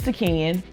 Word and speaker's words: T'Keyan: Yeah, I was like, it's T'Keyan.